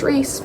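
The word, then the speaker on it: Rhys: Um, took me a while to realize that his name is not pronounced rise. It's pronounced Ree.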